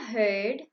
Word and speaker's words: heard: Beware of herd, a dreadful word that looks like beard and sounds like bird.